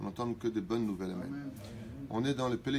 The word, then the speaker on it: Amen: Malheureusement, dans la prononciation du mot Amen, on entend beaucoup de gens qui ne savent pas prononcer ce mot si simple à prononcer Amen. Pas Amen, pas Amin. On n'est pas chez Amin Dada. On ne dit pas Amin. On dit Amen avec un ségol.